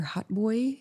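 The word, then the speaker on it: hautbois: Hot Boy is the uh American pronunciation.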